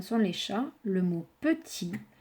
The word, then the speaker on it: petit: Je remets, pour vous remémorer également, le T muet de petit, que l'on ne prononce pas, mais que l'on écrit.